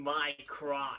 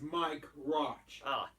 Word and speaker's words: Mike Roch: Who has the name My Crotch? it's Mike Roch.